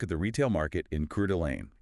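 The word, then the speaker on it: Coeur d'Alene: Today we're heading up to northern Idaho taking a close look at the retail market in Curelane. And that's pronounced Core Delane, just so everyone's clear, right? Cord Delane.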